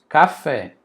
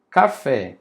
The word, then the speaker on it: café: Eu não falo caf. Ah, vou comprar um caf. Não, eu falo café. Eu coloco mais força, mais entonação lá no final.